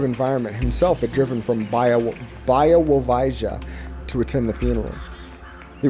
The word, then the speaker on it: Białowieża: I pronounced it wrong. When I finally got it right, I got it wrong. Here's Białowieża. Białowieża.